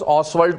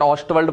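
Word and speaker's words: Ostwald: ऑसवर्ल्ड process. T silent है बट ऑस्टवर्ल्ड process बोलते हैं तो भी कोई मतलब नहीं है, कोई चेंज नहीं है।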